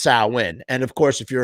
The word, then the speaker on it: Samhain: birthed a festival known as samhain but it's pronounced sauwin and of course if you're a fan of the band samhain uh you'll have nerds coming up to you all day going actually it's pronounced saul when is how you pronounce that for those of